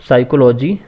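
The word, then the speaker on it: psychology: 20 which is a silent letter in the word साइकोलॉजी, पी यहाँ पे silent होगा, पी सिर्फ लिखा जाता है और उच्चारण करने में बोला नहीं जाता, इसलिए सी, डी करेक्ट आंसर है।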